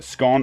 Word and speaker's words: scone: Scone rhymes with gone, or scone.